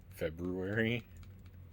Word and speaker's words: February: Just watched a video by a linguist who explained that the R is gone linguistically from English when pronouncing February. I said, you're the library person when you say February.